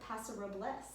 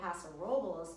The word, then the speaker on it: Paso Robles: I'm a yokel, so I continue to say Paso Robles, but I do believe the proper pronunciation is exactly what you say.